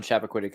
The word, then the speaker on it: Chappaquiddick: It's Chappaquiddick.